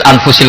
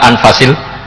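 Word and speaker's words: أنفس: Di sini ditulis anfusil kutub, selalu saya baca anfasil kutub karena maknanya kitab terbaik. Kalau kitab terbaik bacanya bukan anfus tapi apa? Anfas.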